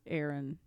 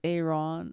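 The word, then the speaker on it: Aarón: Network yes yes and it's a it's not pronounced Aaron it's Aon or like it's I believe he's uh Spanish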